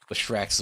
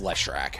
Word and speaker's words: Leshrac: I'm sorry, in Magic it's pronounced Leshrac. I apologize. I pronounced it like he was French for some reason.